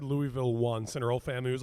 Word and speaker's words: Louisville: Like it doesn't seem like intuitive that it's pronounced Louisville. Oh no. I would have thought Lewisville and I would get crucified.